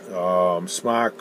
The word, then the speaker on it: SMOK: SMOK or smoke, or however you want to pronounce it. I like to call them SMOK because smoke is what I used to do.